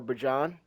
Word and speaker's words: Bijan: Bijan, or Bajan, you want to say it properly, but I just prefer Bijan, I ain't going to lie to you. And I know his name's Bajan, but Bijan just sounds much better.